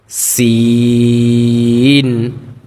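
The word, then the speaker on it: سين: তারপর সিন সিন চিকন করে আওয়াজটা বের করতে হবেশিন বলা যাবে না বলতে হবে কি সিন ঠিক আছে হরফগুলোকে আমরা ভালোভাবে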